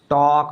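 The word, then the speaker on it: talk: sound आएगा क्या होगा टॉक बोलेंगे टॉक लेकिन इसमें जो ये एल है ना इस एल का उच्चारण नहीं होना है इसमें क्या हो जाएगा देखिए ये वॉक बोलेंगे इसको वॉक इसको क्या बोलेंगे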